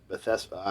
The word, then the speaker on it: Bethesda: It's incredibly powerful about going to the pool of Bethesda.